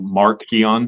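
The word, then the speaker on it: Marcion: the gospel according to Mark Keon, which is how his name was actually pronounced back then, which just meant little Mark.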